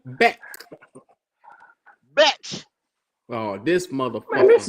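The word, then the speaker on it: Bech: brought Betch or whatever. No, However no, you no, want to no. pronounce Don't do the batch. Do Beck.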